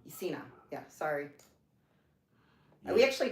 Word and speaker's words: Cena: Have him cosplay as John, what is Sienna? Is that how you say it? The wrestler? Who, John who? He does movies that I like with Mark Wahlberg. John Cena? Cena.